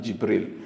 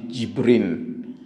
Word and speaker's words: Jibrin: But this mosque is just over time, maybe passing on pronunciation and all that, it became Masjid Jibril. But actually it is, when it was built, it was Masjid Jibrin.